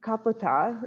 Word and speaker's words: Kapota: opinion of pigeons because it is said that the kaputa is actually the correct way to pronounce it kapita was a a